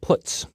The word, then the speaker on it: puts: are the most popular they are pronounced print F put car and puts each function is designed